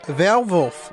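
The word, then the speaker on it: Werwolf: you think that's bad it's pronounced valvolf in German because Deutschland thing is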